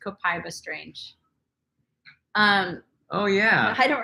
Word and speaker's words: copaiba: No, that's what she was pronouncing it, like Copaiba. Copaiba.